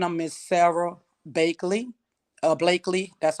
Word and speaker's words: Blakely: Blakely, that's how you say her name.